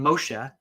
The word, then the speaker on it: Moshe: It's the name Moshe, which is the Hebrew way of saying Moses.